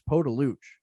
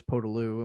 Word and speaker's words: Podolioukh: here on out because i'm pretty sure in the pres in the uh in the pronouncer it's poe de luch is how they have it pronounced so yeah we we now know it's podolu and we're very excited